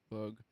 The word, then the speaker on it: Boog: It's supposed to be pronounced Boog, and it's been my Okay, family nickname since I was a teenager, basically. So, but yeah, it is Bug, but people say Boog.